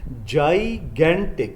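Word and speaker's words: gigantic: आगे हमारे पास वर्ड ये भी बहुत आता है जी पेपरों में, इसकी सही प्रोनाउंसिएशन है जाइगेंटिक। जाइगेंटिक, जाइगेंटिक कहते हैं बहुत बड़े को।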